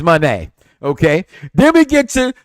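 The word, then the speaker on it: Moné: this pay-per-view no Mercedes Monae you knew it wasn't a big pay-per-view I was G say it right there because Mercedes Monae is Manet okay then we get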